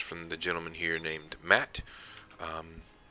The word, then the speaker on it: Maat: the gentleman here named matt i've always pronounced it matt i don't know